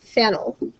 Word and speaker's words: phenyl: Phen, like the phenyl branch, but this time we'll pronounce it phe. And then OL means it's an alcohol. We pronounce this phenol to distinguish it from phenyl, pronounced phen, O, when we have a branch.